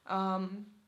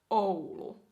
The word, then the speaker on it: Oulu: And then we have Oulu, which is way up north, at least for my standards, because I'm a southerner here. Oulu. Oulu, Oulu, Oulu, Oulu.